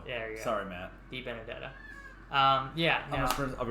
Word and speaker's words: Di Benedetto: Di Benedetto, again we've talked about every week, who is somebody who I think, you know, can be a top 15 to top 10.